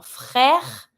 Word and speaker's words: frère: French R is not easy. You can try to do it on your own. Un frère. I pronounce everything, but not my last E because it's mute. There's no accent on it, so I'm not going to pronounce it.